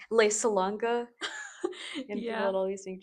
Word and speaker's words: Salanga: How do you say your last name? Salanga. Yeah. Do you guys like But I think it's actually Salanga. I don't know. I think I pronounced it a little whitewashed. So I don't know the actual I always thought